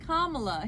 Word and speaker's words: Kamala: Also, it's very interesting that he pronounces her name correctly. He says Kamala.